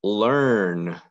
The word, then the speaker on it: learn: harder to spell it's learn did you learn how to spell this word or in this case e a r together makes the er sound and that's why it's